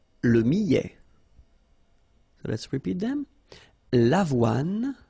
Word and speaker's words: millet: Le millet, here, I, and then double L, so I, millet. ET at the end, open, millet.